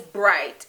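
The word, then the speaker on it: brite: The next word in Patois is bright, and I spell that just B-R-I-T-E, and a lot of times you'll hear it go together.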